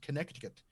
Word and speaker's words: Connecticut: Where you are, there are multiple C's in the word. It is pronounced Connecticut.